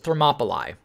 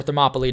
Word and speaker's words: Thermopylae: her leader bonus is thermopyli or Thermopylae depending on how you want to pronounce it this is that killing